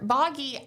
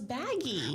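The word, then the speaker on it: Bagi: Because Taylor Boggy, I thought his name was Baggy. Well, it's B-A-G-I, right?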